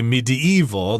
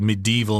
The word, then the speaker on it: medieval: got the word medieval some people say medieval they stick another consonant there in the middle there i've always said medieval myself three syllables but this particular castle